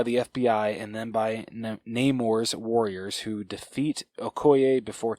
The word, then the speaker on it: Namor: Namor, thank you. Shows Shuri his vibranium-rich underwater kingdom of Talokan? Is that how you pronounce it?